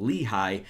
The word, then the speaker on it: Lehigh: But Eric Lehigh, and yes, that is how you pronounce that name, Lehigh, does look fairly solid, and he's more than likely going to be my starting right back.